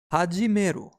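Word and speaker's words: 始める: Its pronunciation is Hajimeru. And we can remember Hajimeru through following example. Have the gym lessons already begun?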